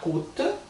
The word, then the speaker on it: coûte: Então, ça, coûte, lembra o mais u, bonjour, coûte é aquele u de urubu.